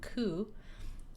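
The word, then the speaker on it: 九: The number 9 and the word pain also share the pronunciation ku, though not as unlucky as 4.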